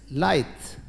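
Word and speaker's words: lithe: अगर उच्चारण की बात करें तो आप इसको क्या पढ़ेंगे, हो सकता है आपके दिमाग में आए लीथ या लीथे या लीथ भी आ जाए, क्या पता, बट इट इज नॉट लीथ लीथे, इट इज लाइथ।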